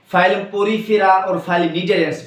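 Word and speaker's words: Cnidaria: Phylum नीडेरियंस, phylum नीडेरियंस, CNIDA, ठीक है, इस तरह मतलब यहां पे C साइलेंट है, नीडेरियंस, ठीक है।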